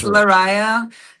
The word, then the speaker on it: Lariyah: And so, let's welcome to the show Larisa from Devinwahr. That's right. Hi. Hi. Did I did did I pronounce it okay? Cuz I hate if no worries. It's Larisa, and the band's name is Devinwahr.